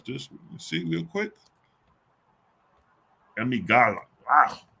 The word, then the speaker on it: amygdala: How to pronounce amygdala. Amygdala.